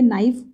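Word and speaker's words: knife: Right इसको बोलते हैं, इसको बोलेंगे नाइफ, के इसमें साइलेंट है।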